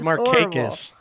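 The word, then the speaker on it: Markakis: It's Marquis.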